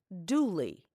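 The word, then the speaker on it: Dula: An example is the story of a young man whose last name was spelled D-U-L-A, but pronounced Dooley.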